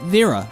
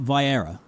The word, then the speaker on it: Viera: Is it actually pronounced Viera? Because that's gonna be my best attempt I'm gonna give you. V-era, not Vi-era.